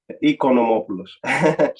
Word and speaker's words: Oikonomopoulos: The pronunciation of my last name is Oikonomopoulos. Yeah. It's a little difficult because it has two letters in the front, and many people get mixed up sometimes. But it's Greek, you know.